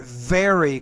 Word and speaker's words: very: want to say their very close friend you want to pronounce the v as a v very close friend